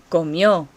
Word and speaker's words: comió: Él o ella comió. Comió. Do you hear the accent on the end?